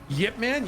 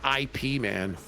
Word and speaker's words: Ip Man: Yip Man. Yeah, that's how you pronounce that. Yeah. It's not IP man or IP man.